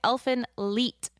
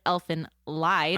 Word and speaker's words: Elfen Lied: turn their D's into they turn their D's into t well that's weird well